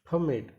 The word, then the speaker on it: permit: Next देखते हैं permit, परमिट, तो ये क्या हो गया, ये है आपका नाउन, ये हो आपका आंसर नाउन, परमिट, क्योंकि यहां पर फर्स्ट पार्ट पर फोकस किया गया, स्ट्रेस दिया गया है.